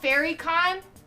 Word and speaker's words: FairyCon: It's called FairyCon, but it's spelled Faerie.